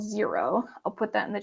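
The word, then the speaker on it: Xero: a bookkeeping software called zero I'll put that in the chat because it's not spelled like the number zero um I use zero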